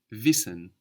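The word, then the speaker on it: wissen: h h n d to know in German is visen V v v it's spelled w i s s e n v v like wies like the word wise in English how would you say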